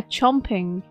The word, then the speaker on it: champing: It's spelled C-H-A-M-P-I-N-G, but English pronunciation or British pronunciation would say chomping. Because it's like, oh, like the A for... It's the vowel sound for A.